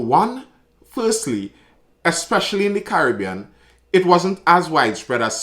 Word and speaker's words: Caribbean: I remember in a few videos back, someone was very stern at my pronunciation of Caribbean, saying that it's supposed to be Caribbean, and fair enough, I'll take that criticism.